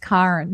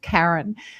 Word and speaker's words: Karen: For our listeners, my name is pronounced Karen, but I often get called Karen.